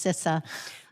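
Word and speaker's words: CISA: sis is what cis is how to correctly pronounce sissa but at the end of the day i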